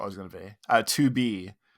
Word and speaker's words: 2B: 2B is the one that, not Toby.